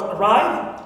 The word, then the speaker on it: arrive: For example, I have the word arrive. So, always second syllable is stressed. Clear? Right is always stressed.